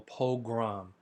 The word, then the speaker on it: pogrom: called Kristallnacht, a nationwide pogrom or pogrom. Okay, it's spelled a little bit different, and it's actually pronounced differently than program.